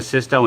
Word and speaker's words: VSYSTO: can tell you that this is the Sisto and that's pronounced this Sisto dashcam is high-quality you